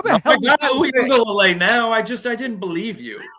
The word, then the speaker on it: Uiagalelei: How can you say Tui Pelotu and then struggle with Uiagalelei? How the hell? Uiagalelei now?